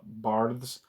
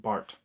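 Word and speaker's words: Barthes: says here is uh bars which I think it's referring to Roland bars but I think his name is pronounced Bart um actually let's see know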